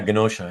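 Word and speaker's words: Genosha: story lines and uh this was the genosa or ganosha and whatever the way to pronounce it yeah ganosha yeah storyline and uh yeah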